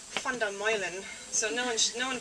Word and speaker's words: Van der Meulen: It's Dutch, so it's actually Van der Meulen.